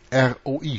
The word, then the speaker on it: roi: Ohne den Artikel ist Roe, Hirte, offenkundig der Ursprung des französischen Roi, König. R-O-I schreibt man das, Roi.